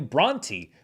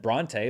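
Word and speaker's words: Brontë: on Emily Bronte, and apparently the author's name is pronounced Emily Bronte, which is weird because I've always heard it said Bronte, but I looked it up and it is apparently Bronte.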